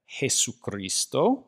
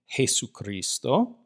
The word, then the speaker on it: Jesucristo: We have Jesucristo. Notice that what we call the letter J in English, this is called Jota in Spanish. It makes a rough H sound, or a rough breathing. Jesucristo.